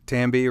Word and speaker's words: Tambi: name for five minutes you pronounced it right Tambi rhymes with Bambi I think that you